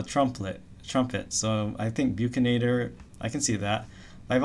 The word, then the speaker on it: bucinator: And then you have something called I've heard multiple pronunciations for this buxinator bucinator. I mean it comes from Latin buchinare which means to blow a trumpet trumpet so I think bucinator I can see that